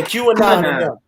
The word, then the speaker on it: QAnon: How you pronounce it? QAnon. Yeah, QAnon.